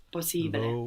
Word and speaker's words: possibile: We are actually pronouncing both of these S's. Possibile.